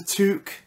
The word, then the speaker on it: toque: on earth do you call a bobble hat a toque? Really? It rhymes with fluke.